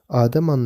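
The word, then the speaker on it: אדם: میم پر مشتمل ہے۔ حرف کے نشانات کے ساتھ تلفظ "آدم" ہے، آخری حرف پر دباؤ کے ساتھ۔ اکیڈمک لٹریچر لفظ "آدم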